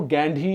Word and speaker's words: Gandhi: Mexico city में गांधी park और गांधी library होने का क्या मतलब है बॉस? उसने मेक्सिको का क्या लेना देना है गांधी से? और वो पता है गांधी भी नहीं, वो गैंधी या कुछ ऐसा ही बोलते हैं, गांधी, उनको